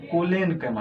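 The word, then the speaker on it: Collenchyma: इसमें है कोलेनकाइमा, इसमें रॉ का उच्चारण नहीं है, इसमें है कोलेरेनकाइमा, ध्यान रखना है।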